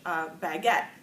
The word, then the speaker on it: baguette: gave another French word borrowed word from French baguette right yet so if we wanted to say bye get with a truck hey pattern so like baguette baguette well that doesn't seem to make any